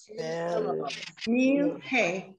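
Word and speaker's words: מלך: One syllable is the meal, like I'm having a meal. Oh, meal, hey. Meal, hey. Everyone see it? Now that I do all over it. I'm so sorry. There we go. So look at it. It's two syllables.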